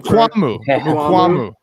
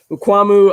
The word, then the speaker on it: Mukuamu: Mukuamu. I always added an extra A, I guess, in there, Mukuamu. But Mukuamu, I liked him a lot.